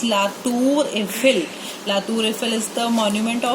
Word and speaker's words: La Tour Eiffel: In English we say Eiffel Tower, but in French the pronunciation of Eiffel Tower is La Tour Eiffel.